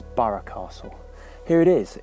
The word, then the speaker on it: Burgh Castle: like to call it burke castle but i'm reliably informed that the norfolk pronunciation is borough castle here it is it's